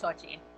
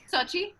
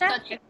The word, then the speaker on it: Xochitl: My name's pronounced Xochitl. Sochi? Sorry. I'm so sorry. It's Xochitl.